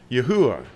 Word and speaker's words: Yahweh: from us like a seed that's really important Yahweh is the way we pronounce it some use a w but we're